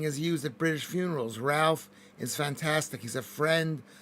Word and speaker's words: Ralph: Silent L in Ralph. Ralph. No, there's not a... How do you pronounce Ralph? I pronounce it with an L.